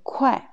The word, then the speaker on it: 会: La deuxième prononciation, c'est 快, 快, quatrième ton.